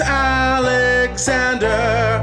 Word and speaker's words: Alexander: attention you'd know that count them one two three four there are four full syllables in my name the third movement